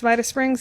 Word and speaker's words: Vita Springs: the late 70s, and it's always been pronounced Vita Springs, even before the vineyard was there. And so I think the proper Latin would be Vitae Springs, but you know, we've